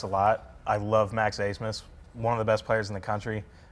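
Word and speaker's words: Abmas: I love Max Asmus, one of the best players in the country. That dude can shoot with Steph Curry all day. Yep, most confusing last name in the world. ABMS pronounced Asmus.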